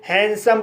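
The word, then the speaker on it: handsome: Consonant S से शुरू हुआ है, इसलिए डी साइलेंट रहेगा, इसलिए इसे हैंडसम पढ़ा जाता है।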